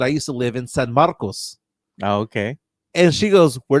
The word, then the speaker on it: San Marcos: goes are you mean do you mean San Marcus no I was like no I mean San Marcos and she was like